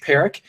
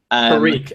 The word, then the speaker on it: Peric: I pronounce it Peri Peri okay like that might be wrong um um because like I'm not quite sure say it's good but like I pronounce it Peri um so right so you don't